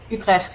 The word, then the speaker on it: Utrecht: So, how long was your sorry, I'm gonna pronounce it horribly. Utrecht? Utrecht, yeah.